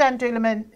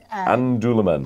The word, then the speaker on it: An Dúlamán: What does it mean, and how do you pronounce it right? So it's called An Dúlamán. An Dúlamán. An Dúlamán.